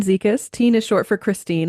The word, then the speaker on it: Zekis: So, um I'm Teen Zikas. Teen is short for Christine. I think that usually helps people with the pronunciation.